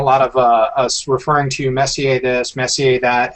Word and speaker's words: Messier: was looking for and what I love is Messier which were also good to pronounce correctly looks like the word Messier and